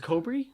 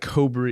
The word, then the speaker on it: Kobri: It's pronounced Kobri? I think so. Yeah, what do you think it was? From Farakaway. Cobra? Eitan Kobri wrote a very thoughtful critique. Literally how it's not Cobra.